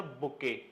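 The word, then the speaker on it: bouquet: Getting of नॉट लेकिन जब मैंने बोला कलेक्शन ऑफ़ फ्लावर्स तो आपके दिमाग में आता है सर बुके। स्पेलिंग ध्यान से पढ़ लें।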